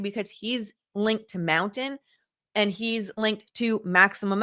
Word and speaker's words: Mntn: But who's mountain? So, I found this from Mountain's website. It's Mntn, pronounced Mountain.